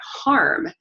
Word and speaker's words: hum: then it talks about the mantra is hum but when in the chakra bible it says that you should pronounce it harm like h a r